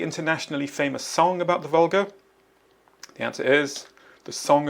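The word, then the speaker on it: Volga: The Vulgar carries barges loaded with lumber, grain, and scrap metal. The river name is the Vular.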